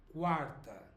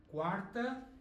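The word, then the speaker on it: quarta: know I know but so the U here is not pronounced but it is here quter quter and Kint okay and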